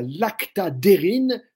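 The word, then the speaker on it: lactadhérine: protéine qu'on appelle la lactadérine Lacta comme ça se prononce di dérine DH e r dhe R n qui elle va lutter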